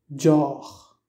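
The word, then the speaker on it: deoch: Comme par exemple, pour dire le mot boisson, en irlandais se dit Dior. Dior. La combinaison des voyelles E fade I et E fade A se prononce avec le son de E.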